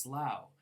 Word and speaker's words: Slough: then there's a town in England which is pronounced Slough where the British version of The Office took